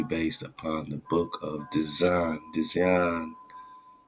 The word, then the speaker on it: Dzyan: This huge work is supposedly based upon the Book of Dzyan, which is like Zion, but they say pronounced John.